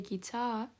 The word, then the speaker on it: guitar: The guitar. Астынан сөз қойған, ол ударение екпін соған түседі деген сөз. Guitar деп оқимыз.